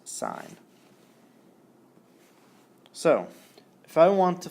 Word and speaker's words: sine: sign of a and sign is always abbreviated si n but it's pronounced sign so if I want